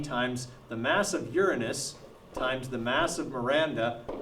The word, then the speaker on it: Uranus: It's about Miranda, which is a moon of Uranus. That's how you pronounce it. It's not Uranus.